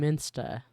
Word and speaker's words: Münster: city that people study sounds like she keep saying minsta and maybe that's how you pronounce it instead of monster moner like the U is those little dot thingies are supposed to be like sound maybe I don't know